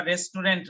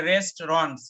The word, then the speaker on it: restaurants: উচ্চারণটা ঠিক করে নিবা, রেস্টুরেন্ট না, যদিও বাংলায় আমাদের লেখা থাকে রেস্টুরেন্ট, কিন্তু এটার ইংরেজিতে উচ্চারণ হচ্ছে রেস্টুরেন্টস, অর্থাৎ এই রেস্ট আর হচ্ছে এই রন্স, টুর কোনো উচ্চারণ হবে না, রেস্টুরেন্টস।